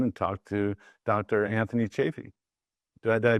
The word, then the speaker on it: Chaffee: the first time and talk to Dr Anthony chaffy do I did I pronounce that right yes yeah yeah thank you